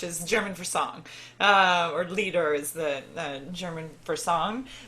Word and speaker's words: Lied: but sorry just to explain so lol so L ie D in German is elite which is German for song or leader is the German for song but in English